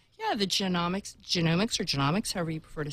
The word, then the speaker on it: genomics: The correct way to say it is, like the human genome, it is genomics. A lot of people say genomics because it's more like economics. Like economics, but genomics.